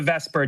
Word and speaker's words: VSEPR: heading into it, how does this relate to vesper? Well, Lewis structures pave the way for the vesper geometry.